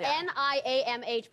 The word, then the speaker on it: Niamh: But then she found out it was pronounced Niamh, and she was like, oh, that's cool, I like how it's spelled, and that's awesome.